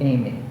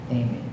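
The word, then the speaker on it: EIMI: i m i right and pronounced a as an a me as in me the accent on the me signifying am and this novel that he's talking about was called Amy Amy and it's the Greek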